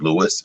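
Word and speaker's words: Louis: named dr and andre louie that's spelled andre and in english it's pronounced lewis l-o-u-i-s all right and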